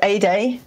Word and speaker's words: Ede: super excited to have a day Fox on today and and I'm so I love the mnemonic that you gave us to kind of pronounce that like a sunny day because of course how